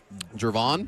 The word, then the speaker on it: Gervon: The Bears are uh am I mispronouncing this name? Jervon.